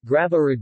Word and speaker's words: Graviera: Graviera, Greek, Graviera, Greek pronunciation, Ra, B, Ra, is a cheese from